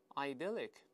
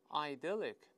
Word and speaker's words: idyllic: 还有一种发音的是前面这个字母 i 发成 i 双音音 i 的声音，这么读也行。再来一遍，idyllic， idyllic， idyllic， idyllic，两个声音都会听到，都可以。